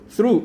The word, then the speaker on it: through: through, O-U-G-H가 한 번만 발음되죠. 우라고 그죠?